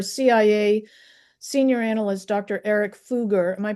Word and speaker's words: Foge: Eric Fuger, am I pronouncing that correctly? Fuger. Yes. Fuger. Fuger.